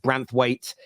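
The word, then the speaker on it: Branthwaite: likes of uh branth I think pronounced branth weight at the center back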